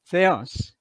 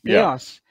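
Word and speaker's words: Θεός: Theos. I'm using a modern Greek pronunciation. Theos, enologos.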